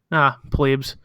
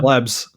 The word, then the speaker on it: plebes: Plebes. That's crazy. I just found out yesterday that word is pronounced plebes and not plebs. Yeah, not plebs.